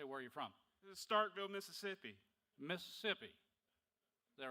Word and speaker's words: Starkville: Starkville, Mississippi.